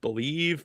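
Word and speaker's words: Bleav: Someone asked me today does anyone know the the website it I guess it's pronounced believe but it's b l e a v.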